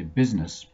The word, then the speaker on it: business: two problem areas really the first half of the word sounds like biz b-i-z but it's spelled like bus b-u-s then there's the letter i in the middle we don't actually say the i we say business as if the letter i isn't there at all so to remember